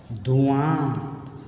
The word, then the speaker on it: धुआं: धुआं, थोड़ा अनुनासिक है, देखो चंद्र बिंदी है तो धुआं आ होगा यहाँ, तो धुआं, आ को थोड़ा हाँ उसका दीर्घ रूप लेना है।